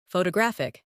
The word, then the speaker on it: photographic: In English, some words are pronounced with extra emphasis on one part. For example, photograph, photographer, and photographic. The stress moves and that changes the sound.